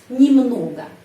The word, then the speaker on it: немного: Tetapi di sini huruf Y tidak mendapat penekanannya di sini. Karena itu huruf Y bacanya I, немного.